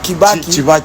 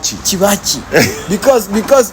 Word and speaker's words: Kibaki: And they were calling Kibaki Chivachi. because B is pronounced like Va. It's not Va.